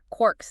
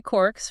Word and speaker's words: quarks: Now what's funny is Joyce probably meant it to rhyme with mark, like bark or hark. So not the sound Gell-Mann was using.